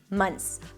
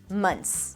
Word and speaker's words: months: now in your tongue, you can drop the TH. You can totally drop it, and it's going to sound just fine. Months, months. Most people pronounce it like that, months.